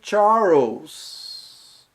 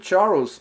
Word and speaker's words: Charles: A próxima questão é no nome Charles, que a palavra, você poderia achar Charles, Charles. No nome Charles, a pronúncia do LE corresponde a OU em português, é a primeira opção, e é a correta.